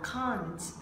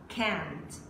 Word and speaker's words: can't: Có một số bạn đọc là can't. Nếu mà nói can't là bạn đang đọc theo giọng Anh. Còn đây là cô ca sĩ này, cô hát giọng Anh Mỹ ha. Cô đọc là can, can't. Và âm tờ họ bật ra rất nhẹ mọi người nha.